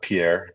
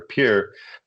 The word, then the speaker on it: Pierre: And uh for this particular one, uh was uh Missouri River near Pier, I guess it's pronounced Pier, not Pierre, Pier, South Dakota.